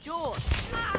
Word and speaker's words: Jorge: one up gets it jorge my name's pronounced jaw don't you backtalk me